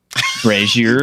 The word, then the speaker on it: brazier: how long it was before I finally started pronouncing Brazier correctly Brazier you got a tiptoe around that one right